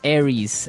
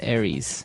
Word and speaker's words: Aries: Greek mythology that's right and uh so it's pronounced Aries Aries a r i e s Aries that's right